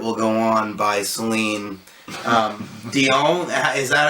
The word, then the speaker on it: Dion: But, I mean, the lyrics in My Heart Will Go On by Celine Dion, is that how you say it? Dion, okay, was written by James Horner, so it's